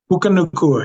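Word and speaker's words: Puka Nacua: uh from the Rams uh is it nuke pukaa Nua yeah yeah yeah Puka Puka Nua yeah now again a lot of good you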